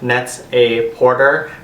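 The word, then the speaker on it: Net-a-Porter: able to find it um it's available at Neta Porte it's spelled like net a porter but it's pronounced Neta Neta Porte and um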